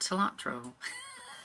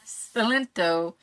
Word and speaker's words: Cilento: Just right now, Miss Tween, I can't remember exactly how you say her name, and this Arthur Cilento, not cilantro, Cilento, have just met and are talking over everything.